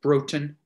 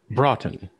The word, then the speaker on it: Broughton: is it uh do i pronounce your last name broten it can be what is the proper pronunciation broughton rotten right mr brockton uh glad